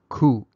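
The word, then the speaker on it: ခု: what the correct kind of word is it's pronounced ku so let's look at a few examples of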